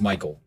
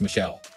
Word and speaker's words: Michael: was Michael and again this girl was adamant it was pronounced Michelle mom amused said something along the lines of it's literally a name from the Bible it's pronounced Michael and has been for thousands of years the receptionist sat in